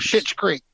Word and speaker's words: Schitt's Creek: It's not a cuss word. It's a name spelled with an SCH and two T's. Schitt's Creek.